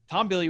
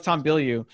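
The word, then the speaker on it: Tom Bilyeu: tom the first time i called him tom bill yeah that's actually how you pronounce his name because he's french but he goes tom billy uh because he's american you know yeah yeah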